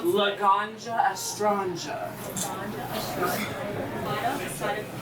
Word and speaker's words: Laganja Estranja: And how do you pronounce it? Laganja Estranja.